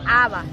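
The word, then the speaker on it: אבא: El significado original de padre en la antigüedad significa o se escribe o se pronuncia Abba. Dígalo. Abba. Abba, Abba. Esta es una palabra aramea.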